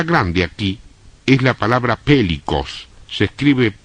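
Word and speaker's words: πηλίκος: La palabra grande aquí es la palabra pélicos. Se escribe P de pato, E-L-I-K de kilo, O-S.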